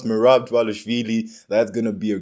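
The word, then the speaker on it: Merab: DV a but I finally learned how to pronounce mirab that's going to be a great Main Event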